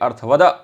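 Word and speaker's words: अर्थवत्: जब हम लोग बोलते हैं, उच्चारण करते हैं तो ध्यान रखिएगा अर्थवत के बाद में अ है, तो इसलिए अर्थवद वहां पर है। अर्थवद धातुर प्रत्यय प्रातिपदिकम, इस तरह से बोलना है।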